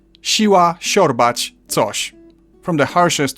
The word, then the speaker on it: siła: It's like a softer sh, which I've already compared to English sh in shoe. Siła, siorbać, coś.